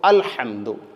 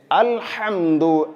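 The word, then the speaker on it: الحمد: അൽഹംദു എന്നുള്ളത് അൽഹംദു നോക്കൂ ഹാ യിന് പകരം ഹിന് പകരം ഹാ വന്നു കഴിഞ്ഞാൽ ഹംദ് എന്ന് പറഞ്ഞാൽ അർത്ഥം ഇവിടെ നശിക്കുക അല്ലെങ്കിൽ അണഞ്ഞുപോകുക ഈ രൂപത്തിൽ അപ്പൊ അൽഹംദു സർവ്വ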